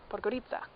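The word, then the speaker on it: Podgorica: I've been saying it wrong but goodie ciao plugger Itza in Montenegro so I got picked up by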